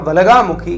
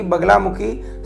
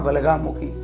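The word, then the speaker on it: वल्गामुखी: तो इसलिए मां वलगा मुखी का नाम सही उच्चारण लीजिए ना कि बगलामुखी सही उच्चारण है मां वगामुखी।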